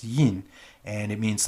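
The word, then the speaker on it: 印: It's pronounced yin, and it means like to print or stamp something.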